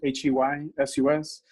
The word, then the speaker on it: Jesus: My artist name is, I just spell it Jesus, Heysus. The top part you say English in English, and the bottom part you say in Spanish.